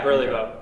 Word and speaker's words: Burlebo: That's the correct way to say it? Yeah, Burlebo. Okay. Some people say Burlebo.